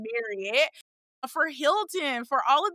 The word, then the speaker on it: Marriott: We always say Marriott because that's how they pronounce their name. Even though people say Marriott all the time, they pronounce their name Marriott.